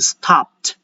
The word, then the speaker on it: stopped: I have the word stopped. because there is a PED, so I have to still pronounce the D sound in the end, but instead of D, it will now sound as a T.